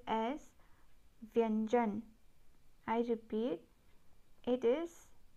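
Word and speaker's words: व्यंजन: In Hindi, consonant is said as vyanjan. I repeat, it is pronounced as vyanjan.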